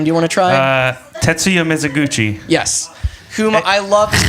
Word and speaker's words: Tetsuya Mizuguchi: Tetsuya Mizuguchi.